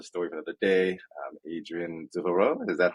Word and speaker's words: Devereux: Okay, Devereaux is the, I guess, very American way. Yes. beautiful. We'll go the American way, Devereux.